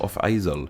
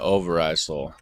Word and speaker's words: Overijssel: speakers is the name of the province of Off-IJssel. However, once you discover its etymology, it's actually a pretty... I've been pronouncing it Overijssel.